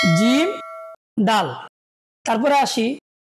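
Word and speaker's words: جيم: আমরা অনেকে এটাকে বা বলি, এটা বা হবে না, এটা নাম হবে জিম। হায়ের মাঝখানে ফোঁটা দেওয়া আছে, আমরা এটাকে কি বলবো? জিম। আর জিম উচ্চারণ সবসময় শক্ত করে আদায় করতে হবে।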